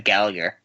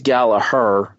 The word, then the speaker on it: Gallagher: Gallagher and like they're saying it the way the British say it because I've never heard anyone be called Gallaher before this it was always Gallagher well this particular one is Gallaher and Nigel pronounces it the other way that being said he